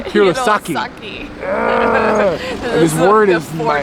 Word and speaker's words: Hirosaki: And then we came back to Hiroseki. Did I finally say it right? What? Really? Hirosaki.